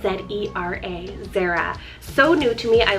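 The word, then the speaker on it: Zera: A fresh new idea here is the name Zara, spelled Z-E-R-A, Zara.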